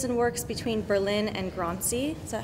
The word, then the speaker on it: Grancy: She lives and works between Berlin and Grancy. Is that how it's pronounced? Grancy, yeah.